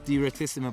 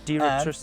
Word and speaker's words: Direttissima: I got one thing, I couldn't even pronounce it. How do you say that? These are called Trickstuff Direttissima brakes. Direttissima.